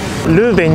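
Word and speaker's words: Leuven: ベルギーは戦場になっていますルーベンに到着しました本ではと発音されることが多いんです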